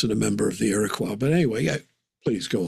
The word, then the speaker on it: Iroquois: For example, I was talking to a Native American person who is part of the Iraqis, No, you mean Iroquois Iroquois. or So sorry. Iroquois, as Americans say, Iroquois.